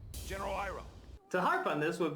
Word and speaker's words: Iroh: And by the way, just a fun little tidbit, they do pronounce the names different from the show as well. My name is Ang. I'm Aang. Sokka. Sokka! My name is Iro. General Iroh.